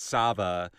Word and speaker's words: Sava: use the name Sava it rhymes with hot lava yes and hot lava